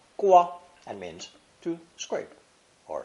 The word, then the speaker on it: 刮: When the knife radical is added, it's pronounced first tone, gua, gua, and means to scrape or shave.